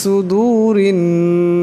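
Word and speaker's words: صُدُور: সুদূর এখানে সোয়াদ আছে, সোয়াদের আওয়াজটা মোটা করিয়া পড়তে হবে। আবার এখানে ওয়াও সাকিন তার ডাইনে পেশ, তাই এই ওয়াও সাকিনকে একালে পরিমাণ লম্বা করিয়া পড়তে হবে। ফি সুদুরিন নাস এরা এই নুনকে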